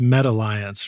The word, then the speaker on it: METalliance: Although I guess it's pronounced METalliance, right? Yeah, we're trying to make the distinction because we don't want to be Facebook, right?